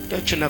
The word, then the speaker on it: techne: Le mot art du grec techne, techne comme je le prononce, de T-E-C-H-N-E.